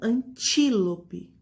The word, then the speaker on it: antílope: Então, como no exemplo, antílope. Antílope. A sílaba tônica mais forte é o ti e está na penúltima sílaba, ok?